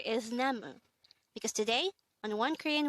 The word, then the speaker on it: 나무: This is composed of two syllables. The first syllable is na, and the second syllable is mu.